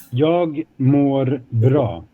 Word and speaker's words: Jag mår bra: How would you spell it? Gagm, and then there is a with a circle on top of it. Bra. So how do we say it again? Jag mår bra.